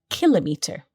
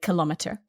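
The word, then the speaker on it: kilometre: so the word kilometer can also be pronounced kilometer in american english but you and i are british so we say kilometer the spelling is also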